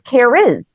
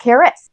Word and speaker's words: Kariz: It's Kariz, not Karis. So I-Z, not I. How I pronounce it.